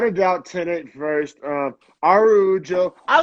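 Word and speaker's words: Araújo: doubt tenant first um arujo i like her so much that i'm not even going to complain about pronouncing your name the brazilian way yeah yeah yeah instead of a rajo there's like a great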